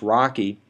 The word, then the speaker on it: RoCE: itself a little bit rdma over converged ethernet pronounced rocky is how system z